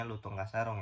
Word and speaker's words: Lutung Kasaroeng: pertama kali dibuat yakni film Lutung kasaroeng dibacanya lutung kasarong ya teman-teman yang diproduksi oleh